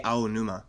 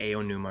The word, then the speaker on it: Aonuma: He didn't he didn't say Aonuma. He said something weird. It was like a numa or something like a Yeah, I heard that actually.